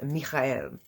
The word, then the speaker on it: Michael: Now, the Archangel Michael, his name is pronounced in Hebrew is Michael. And you'll notice that a lot